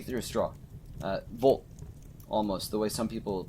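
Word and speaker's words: вот: what it meant and the bot or uh Vault it sounds like the word vote except you spoke it through a straw try to speak it through a straw uh Vault almost the way some people pronounce it so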